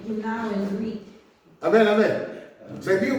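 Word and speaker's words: γεννάω: It's pronounced yenao in Greek.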